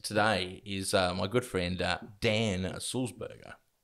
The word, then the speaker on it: Sulzberger: and my guest today is my good friend dan salzburger how you doing dan great great pronunciation too by the way oh thank you